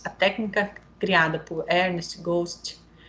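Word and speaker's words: Götsch: Thiago Tadeu Campos a técnica criada por Hermes Ghost Ghost pronúncia certa tá gente tem feito cada vez mais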